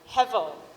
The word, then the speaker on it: hevel: So the Hebrew word he uses for this word meaningless is called hevel. It's pronounced hevel, so H-E-V-E-L.